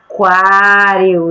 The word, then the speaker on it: aquário: e a última liquidificador então dessas palavras que nós pronunciamos qual delas a gente pronunciou a letra u em que a gente ouviu qual foi a aquário isso mesmo agora nós